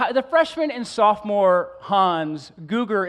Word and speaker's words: Googer: Now, the freshman and sophomore Hans, Googer is how you pronounce my last name. For those of you who just look at it and never want to pronounce it, it's Googer.